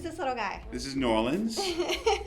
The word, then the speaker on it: New Orleans: This is New Orleans, like New Orleans, but pronounced like a local, Nolans.